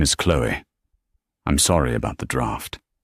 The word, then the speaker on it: Chloe: Thank you, Chloe, he said, pronouncing her name the French way. Chloe.